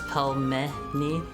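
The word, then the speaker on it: пельмени: For the record, it's pronounced as pelmeni. Pelmeni. Do I need to put a pause in there? I don't know. That's how I was saying it, just with no pauses.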